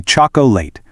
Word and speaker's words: chocolate: Now, if you read it exactly as it's spelled, you'd probably say choco late. Three clunky syllables, but native speakers completely drop that middle O. It transitions straight into a quick two-cllable word, chocolate.